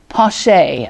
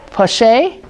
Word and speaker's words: Poche: let's see was marius pache i i kept saying it wrong but it's poche oh i've spelled it